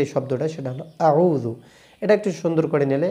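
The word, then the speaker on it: أعوذ: নরম করে উচ্চারণ করবেন। আমার সঙ্গে বলুন আউজু আচ্ছা আউজু এর মধ্যে এইযে আউজুবিল্লাহি মিনাশ শাইতানির রাজিম এর মধ্যে কঠিন যে শব্দটা সেটা হল আউজু এটা একটু সুন্দর করে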